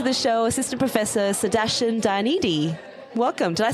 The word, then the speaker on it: Dayanidhi: Dayanidhi.